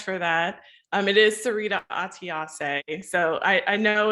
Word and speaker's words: Atiase: It is Syreeta Atiase. So I know it's not an easy one to pronounce when you see it in writing.